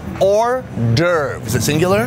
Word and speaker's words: hors d'oeuvres: Like a hors d'oeuvres. Hors d'oeuvres. Is it singular? There is an S, but the S is silent.